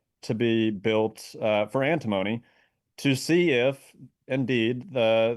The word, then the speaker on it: antimony: processed um I think I'm saying this right, antimony for the US military to use.